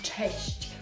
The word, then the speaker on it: cześć: to substitute that word cześć, which is very difficult to pronounce because it has ch that we've seen already together.